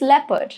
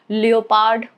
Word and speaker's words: leopard: Okay, imagine pronouncing leopard. Leopard. No, it's leopard, right? You don't say it as leopard, right? Because of the silent letters, it's leopard. O is silent here.